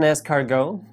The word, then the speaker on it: escargot: back to yokai tales have you ever eaten escargot did you know that it's spelled with a T at the end do you have man